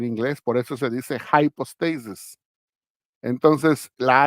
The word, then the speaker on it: hypostasis: poner la j y en inglés Ah se le pone una i pero se pronuncia High hypostasis pero en español se